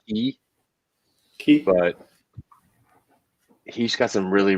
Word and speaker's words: Quay: It's in Australia, but it's spelled Quay. I think they call it Key.